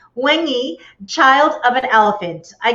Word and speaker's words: Nwaenyi: I should have you pronounce the actual book name because I tried. Say it one more time for me. Nwaenyi. Nwaenyi. Nwaenyi.